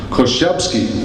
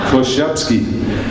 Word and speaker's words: Korzybski: Korzybski, as they say in Poland. That's how his family pronounce it. I was on the phone to them last night. Korzybski.